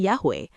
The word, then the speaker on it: Yahweh: Dalam entry Jewish Encyclopedia Names of God, sebuah entry multi penulis yang mencakup kontribusi Eisenstein, tercantum pernyataan, "The original pronunciation must have been Yahweh."